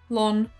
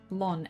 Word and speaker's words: Launceston: It's like Launceston. You're not allowed to say Launceston. They'll get angry. Those two sounded exactly the same. Lawn. What? Launceston. Lun? Launceston. Lun? Lon. L-O-N. But it's spelt L-A-U.